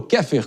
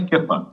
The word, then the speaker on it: Keifer: Esse foi o advogado criminalista Daniel Keifer ou Keffer? Qual é a pronúncia correta aqui? A grafia é Keifer, mas a forma de se expressar é Keffer. Keffer. Boa.